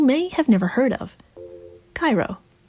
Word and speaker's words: Cairo: at this very minute because they pronounce the town's name as Cairo.